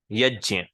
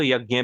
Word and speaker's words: यज्ञ: तो मैं चाहता हूं कि आप देखिए, दोनों ही प्रोनाउंसिएशन आज के टाइम में वैलिड हैं। दोनों ही का ही आप यूज कर सकते हो। लेकिन अगर आप कोई पर्टिकुलर मंत्र रिसाइट कर रहे हो, तो एंशंट वाला प्रोनाउंसिएशन ज्यादा एक्यूरेट है, यज्ञ। राइट। और वैसे आप नॉर्मली श्लोक में बात कर रहे हो या ट्रांसलेट कर रहे हो, तो यज्ञ भी ठीक है, कोई प्रॉब्लम नहीं आएगी।